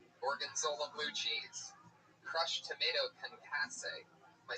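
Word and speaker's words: concassé: Concasse. Alright, I'm going to take it from the top. Steak and blue pizzas with a balsamic marinated steak. Gorgonzola blue cheese. Crushed tomato concasse.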